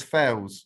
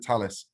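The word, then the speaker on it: Thales: So when I worked at Leonardo, we used to call Talis Fails because that's how it's spelt. But when I got here, they told me not to call it that. I have to call it Talis.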